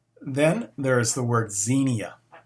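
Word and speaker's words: ξενία: is a need then there is the word xenia x e n i a xenia it means hospitality love of strangers guest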